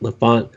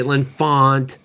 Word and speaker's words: L'Enfant: George's pronunciation of that is the Frenchy one. yeah. That's what I just went half French because we live in D.C., so we're going to say L'Enfant. L'Enfant Plaza.